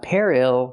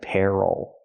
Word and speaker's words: peril: Not peril, but peril. The stress is on the first syllable.